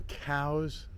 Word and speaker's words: Cowes: is eric clark travel videos and i'm in cows um in the uk in the united kingdom